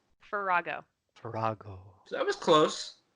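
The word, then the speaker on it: Ferahgo: Farrago.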